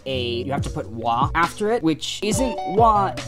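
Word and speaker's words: は: of a sentence is in japanese um you have to put a you have to put wah after it which isn't what in hiragana it's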